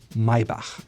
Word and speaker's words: Maybach: Say it again, Maybach.